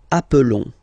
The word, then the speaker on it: appelons: Okay, nous appelons. And then little link would be perfect, so let's pronounce the whole thing again. Nous appelons. Nous appelons. Okay, final S doesn't exist.